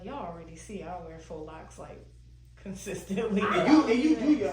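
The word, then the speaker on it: faux locs: Am I pronouncing it correctly? Faux locks? All right, yeah, faux locks.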